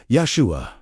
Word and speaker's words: Yeshua: Yeshua. Three syllables, each carrying specific spiritual weight.